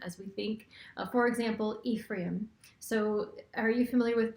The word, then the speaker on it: Ephraim: Well, the Strong's definition or way of saying Ephraim is Ephraim. And then I've heard Ephraim, and I say Ephraim. Ephraim is called the American way of pronouncing it. If you do that Google pronunciation search, you'll hear Ephraim, and so I choose Ephraim.